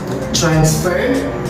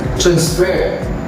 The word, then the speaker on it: transfer: Because if it functions as a noun, then the primary stress is in the first syllable. If it functions as a verb, then the primary stress is in the second syllable.